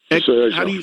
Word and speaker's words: Xerjoff: How do you pronounce the company, Tony? Is it Xerjoff? Xerjoff, yeah, that's right.